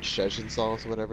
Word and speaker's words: Szechuan: You said Szechuan. It's Szechuan. All right, Szechuan.